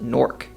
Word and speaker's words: Newark: The largest is known to lots of people outside the city as Newark, but many locals pronounce it Newark.